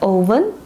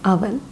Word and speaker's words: oven: Not oven, it is oven.